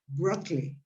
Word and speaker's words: broccoli: and let's say um it's not broccoli it's broccoli Berkeley yes sorry broccoli broccoli um this word